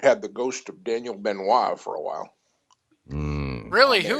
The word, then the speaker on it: Benoit: He goes, "Yeah, the correct pronunciation is Benois."